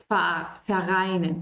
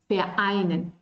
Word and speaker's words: vereinen: Si yo junto todo, vereinen, no, es vereinen. Yo tengo que hacer esta pausa porque aquí hay una vocal.